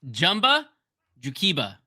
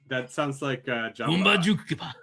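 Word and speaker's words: Jumba Jookiba: Top right's also worth talking about because no one can ever pronounce it correctly. It's Jumba Jukiba. Jumba Jukiba. It's not Jumba Jukiba. It is not Jumba Jukiba. It's Jumba. Sorry, Jumba. It is Jumba. Jumba Jukiba.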